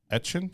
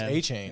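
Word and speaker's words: Etienne: Travis Etchin.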